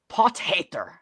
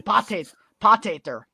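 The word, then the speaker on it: Potgieter: It is Pothater, I believe. Like, you say it like an angry German. Pothater.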